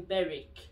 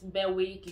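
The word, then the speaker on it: Berwick: w is silent in beric so you don't pronounce it bear wig you don't say no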